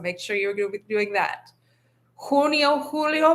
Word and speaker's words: junio: Junio, julio. Make sure you're using an u sound for that u.